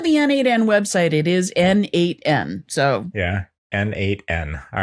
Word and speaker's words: n8n: still having is it N8N or is it Nathan which I said to Derek there today It's kind of like the southern pronunciation of Nathan According to the N8N website, it is N8N.